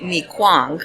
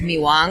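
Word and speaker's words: mì Quảng: It's spelled like mi Quang or mi Quang, but it's pronounced mi Wang.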